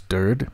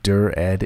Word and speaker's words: Dired: like you think that the way I pronounce dird makes it sound derpy and that I should pronounce it dur-ed instead, leave a comment.